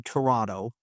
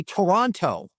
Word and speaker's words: Toronto: Canadian city, it's Toronto, they do not pronounce the last T. So if you want to be labeled as a tourist the minute you go to Toronto, say Toronto.